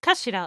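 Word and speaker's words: 頭: end is the button it's written as head in japanese but it's pronounced kashira i believe yeah look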